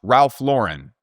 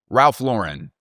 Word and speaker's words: Ralph Lauren: It is pronounced Ralph Lauren. Ralph Lauren.